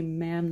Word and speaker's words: ma'am: I believe, Mom, is it Mom or Ma'am? They say it differently. Ma'am, not like jam, not...